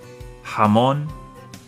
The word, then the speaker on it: jamón: The letter J makes the H sound. Jamón, Jorge, jugo. Jamón, Jorge, jugo.